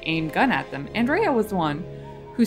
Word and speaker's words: AndrAIa: like assembling that i've been pronouncing it wrong the whole time it's andrea andre andrea i'm going to try